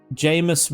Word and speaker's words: Jamus: Um Jamus rhymes with famous.